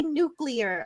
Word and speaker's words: nuclear: so are we no I do say nuclear I I think what it is is that I just say it too fast and you hear it the wrong way I promise I'm saying